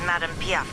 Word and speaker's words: Madame Piaf: My name is pronounced as Madame Piaf, Captain. Thank you for asking. Madame Piaf.